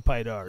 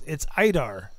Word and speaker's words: Peter: Okay, I see what you're saying, Pydar. So it's Idar, not Pydar. The P is silent, which is strange. So it's Idar. I equals P without the P.